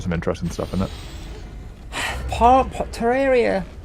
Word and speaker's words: Terraria: Terraria, that's how you pronounce it, by the way.